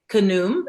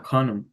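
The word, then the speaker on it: Khnum: Um, oh, I'm gonna I'm gonna butcher the pronunciation, but I think it's kum. It's k h n u m. And um Oh, kum. Kum. Yeah, kanum.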